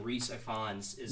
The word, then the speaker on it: Rhys Ifans: I went and looked it up, and I believe you pronounce his name Rhys Ifans.